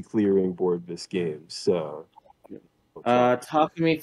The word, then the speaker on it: Takumi: He has crits for Takumi. That's the correct pronunciation.